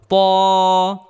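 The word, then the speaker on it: ط: করে উচ্চারণ করতে হবে ত ত হরফটি মোটা করে উচ্চারণ করতে হবে। কারণ এর বিপরীত একটি হরফ রয়েছে সেটা হলো জাল। জালের তুলনায় কে মোটা করে উচ্চারণ করতে হবে।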